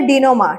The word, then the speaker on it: denouement: আজকের সেশনটা দেখ ডিনোমা তোমরা কিন্তু স্পেলিংটাচ্ছে ভুল উচ্চারণ করবে না এটা হচ্ছে ডিনোমা ঠিক আছে ডিনোমা ফ্রেঞচ ওয়ার্ড মি নট এটা মানে হচ্ছে মানে কোন একটা ঘটনা বা কোন একটা কিছুর জট খোলা।